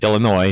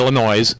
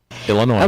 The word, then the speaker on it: Illinois: No, you don't pronounce the S on Illinois. It's Illinois. It's right. Not Illinois. Right. Although it's a noisy state, it's Illinois.